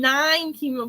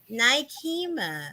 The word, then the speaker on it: Nikema: I feel like I'm saying nine chemo, but it's not chemo. Nikema. The Nine, NE not is chemo. silent. Nikema. The E is silent. The NE is silent. So The N E. Nikema.